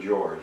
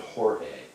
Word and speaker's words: Jorge: My wife got the Legend of Jorge. You may say the Legend of George, but that's not really how it's pronounced. It's the Legend of Jorge, which was lime leaf